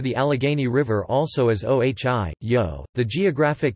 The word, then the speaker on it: Ohi:yo': from the Seneca language in Iroquois and language Ohi yo roughly pronounced OG yo with the vowel in he